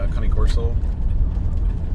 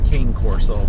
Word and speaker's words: Cane Corso: So she has her boxer, her corgi, and then my Connie Corso. So, or for others, it's a Cane Corso, but people pronounce it both ways, Connie and Cane Corso.